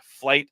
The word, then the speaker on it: Flyte: And this is built on top of Flight. So a lot of what we are going to see today, you can also implement in open source, which is done in Flight, F-L-Y-T-E.